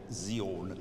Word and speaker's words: Zion: When we speak in English, we say Zion. But in Latin, we'd say Zion. So it's Zion.